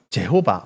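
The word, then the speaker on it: Jehovah: 하나님의 이름을 여호와 뭐 제호바 뭐 이렇게 표현하죠 우리 한글로는 여호와 근데 그 영어는 영어 발음 상은 제호바 뭐 이렇게 돼요 그리고 히브리어 사람들이 표현하면 야회 이렇게 되죠 야회 야외라고 부릅니다 같은 단어예요 근데 그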